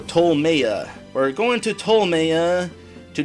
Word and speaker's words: Ptolmeia: to a place called tolmiaz let me double check that out that's pronounced no tolmaya we're going to tolemaya